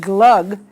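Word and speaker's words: glögg: I'm not sure exactly how it's pronounced in German, but in Scandinavian countries, we usually pronounced it glug.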